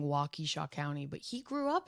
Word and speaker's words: Waukesha: we have to say Waukesha in the newsroom. It is Waukesha.